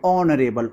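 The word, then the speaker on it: honourable: देखिए ये एच से शुरू हो रहा है लेकिन एच साइलेंट होता है। तो यहां हम लोग इसको उच्चारित करने पर कैसा ध्वनि निकल रही है? ऑनरेबल ओ से निकल रहा है।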